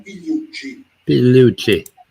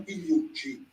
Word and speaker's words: Pigliucci: Pronunciation. Massimo Pigliucci. Massimo Pigliucci.